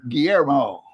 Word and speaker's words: Guillermo: Geezer, how do you pronounce that name right there? Guillermo.